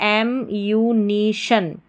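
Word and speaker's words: ammunition: और शन जो लास्ट में है वो हमारा कोड है बार बार रिपीट होने वाला, तो इसको शन पढ़ेंगे, TION को। तो पूरी स्पेलिंग हमारी क्या बन जाती है? एम्यूनिशन। क्या बन गई? एम्यूनिशन।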